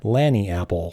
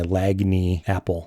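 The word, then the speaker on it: lagniappe: it it's Landing Apple it is derived from a creole word uh Lani app it's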